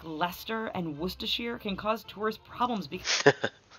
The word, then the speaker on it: Worcestershire: so think of it rather more of like an e rather than i in the sh in the in the shire so yeah worcestershire less sure yeah that's not weird yeah